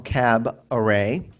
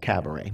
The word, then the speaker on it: cabaret: to play the song cab array actually i think it's pronounced cabaret but and just note for